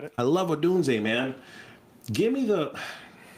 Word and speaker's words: Odunze: Did I pronounce the name right? Odunze? You got it. I love Odunze, man.